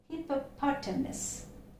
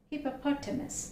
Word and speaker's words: hippopotamus: is hippopotamus of these ways but the right pronunciation is hippopotamus hippopotamus there is a pronunciation i will write it